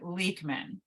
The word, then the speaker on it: Leuchtmann: It is pronounced here Leuchtmann, according to my in-laws.